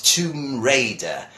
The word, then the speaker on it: Tomb Raider: there's these words that everyone says tongue but now you there are obviously the Spanish but actually the name of this is tomb it's a tomb you and mother won't think word is Raider not Riley but Raider its Tomb Raider that is the name